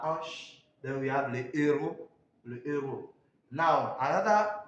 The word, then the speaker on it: héros: So you see that the H is not sound. It doesn't sound. So we have la hanche. Then we have le héros.